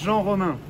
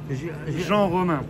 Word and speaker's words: Jean-Romain: My name is Jean Romain. Jean Romain. All right. everyone calls me. Can you spell that for me, please?